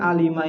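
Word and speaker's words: عَلِمَ: Berarti alima ini isim, fiil atau huruf? Fiil. Kenapa? Ada qad. Bisa difahami ya. Alima ini bacanya alima.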